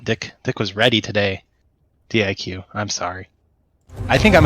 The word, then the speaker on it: diQ: dick but uh yeah he's actually di Q all right so the players are gonna just leave the IQ in D he wants his nickname to be pronounced di q or to be read di q yo yo yo good